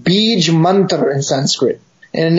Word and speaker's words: Bija: reciting what are called Bij Mantra in Sanskrit. And in English, they always transliterate it with these A's on the end, although the A is actually quiescent. So they write Bija Mantra.